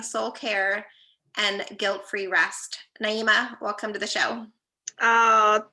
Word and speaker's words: Naheemah: legacy while liberating soul care and guilt-free rest naima welcome to the show oh thank you darlene and you did perfect you pronounce my name perfectly nailed it it's one of those things i was just telling naima i was like man it's so hard sometimes